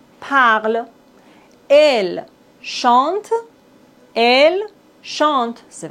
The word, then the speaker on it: parle: Attention, dans la conjugaison des verbes, on ne doit pas prononcer E, N, T. Il parle, il parle.